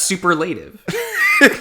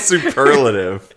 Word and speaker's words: superlative: you say that word no that's super relative you pronounce it superlative it's stupid it looks like super elated yeah it's spelled that way but the pretty pronunciation of the word is superlative is